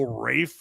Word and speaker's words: Ralph: Your name is spelled Ralph and you go Rafe.